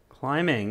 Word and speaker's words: climbing: verb to use here climbing and remember that silent b when you write climbing all right so uh